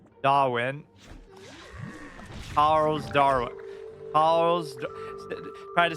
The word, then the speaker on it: Darwin: They can get you really in trouble if you do happen to emphasize the R. The city is spelled Darwin, but it said Darwin.